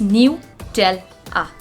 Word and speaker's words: Nutella: is the pronunciation mistake when we pronounce nutella it's new tell ah isn't it great all